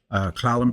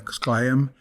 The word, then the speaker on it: S'Klallam: I'm from the Lower Elwha S'Klallam people. As most of our tribes know, our names are usually mispronounced by the English speakers. And so they took the name S'Klallam and it became S'Klallam.